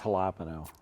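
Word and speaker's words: jalapeño: It's hilapo. That's how they say it.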